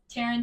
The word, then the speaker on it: Terrin: r a y n y r a YN Taran t e r r i n r a